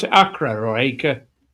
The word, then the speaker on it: Acre: the treasure away from how do you pronounce it? Acra or Acre. Acre.